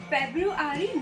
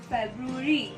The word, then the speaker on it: February: February नहीं होता है। The correct pronunciation is February.